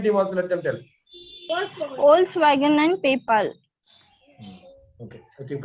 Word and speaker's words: Volkswagen: Volkswagen and PayPal. It is actually Volkswagen. It's not Volkswagen. It's pronounced as Volkswagen. Pronunciation is Volkswagen.